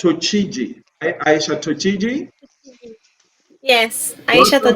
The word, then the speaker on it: Tochigi: Now, let me get the full name correctly because I mean, how do you pronounce Tochiji? Aisha Tochiji? Yes, Aisha Welcome, Tochigi.